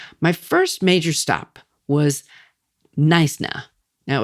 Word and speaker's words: Knysna: My first major stop was Knysna. Now, it's Heads, two dramatic cliffs guarding a lagoon entrance, and it's spelled k n y s n a.